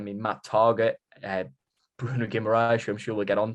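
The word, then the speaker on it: Guimarães: let's talk about it bruno gimmerash that is how you say it isn't it like um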